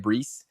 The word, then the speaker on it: Breece: was his name Brees this is Reese Hall yeah that's how you say it Brees nice nice yeah um